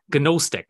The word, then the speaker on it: Gnostic: It's called Gnosticism, but it actually has a G, so the G is silent. So Gnostic, right?